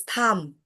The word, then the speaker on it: thumb: B is silent. B is It's wrong. because we don't pronounce B. It is thumb.